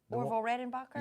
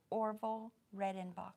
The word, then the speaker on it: Orville Redenbacher: Orville Redenbacher? Yeah, say it again. Orville Redenbacher.